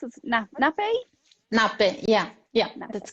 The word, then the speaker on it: Nappe: How do you pronounce it? Nappe? Nappe. Yeah, Nappe.